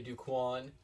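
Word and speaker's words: Du Quoin: Aerial view of the Duquan State Fair. I'm going to say Duquan because that's right, like Jerry Maguire. Show me the Quan.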